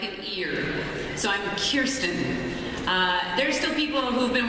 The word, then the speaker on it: Kirsten: It's You look at it and you want to say Kirsten.